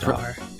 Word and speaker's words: Mastar: It's Mastar. pronounced Mastar, yes.